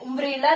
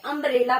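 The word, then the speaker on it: umbrella: उम्ब्रेला नहीं पढ़ेंगे, अम्ब्रेला पढ़ेंगे।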